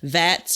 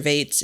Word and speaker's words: Vates: Vats, I think it's pronounced Vats or Vates, V-A-T-E-S is a common variety for that.